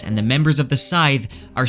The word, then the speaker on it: Sithe: But I want to branch off from here and connect the Sithe to the Adem. Now, first off, I just want to point out that Rothfuss says the correct pronunciation for Sithe is actually Sith.